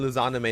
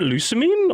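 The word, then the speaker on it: Lusamine: The villain Luzanime is very Luzanime? Luzanime? I have never heard someone. Isn't it Lucamine?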